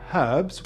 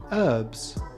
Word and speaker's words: herbs: British cooks like the H in herbs, whereas Americans prefer herbs.